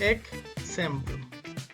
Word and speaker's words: exemplum: La X siempre va a tener una pronunciación, un sonido de CS, nunca como J. No va a pasar como México, que la X es una J, como una J, sino siempre va a sonar como CS. Por ejemplo, exemplum. Esta palabra significa ejemplo, precisamente. Y el sonido de la X es exemplum.